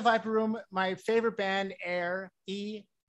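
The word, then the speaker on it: Aeir: room my favorite band air e it's spelled a e i r like buenos aires it's good air so air is upstairs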